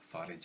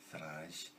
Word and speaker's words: Farage: replaces Nigel Farage, and that's Farage as in garage, not Farage.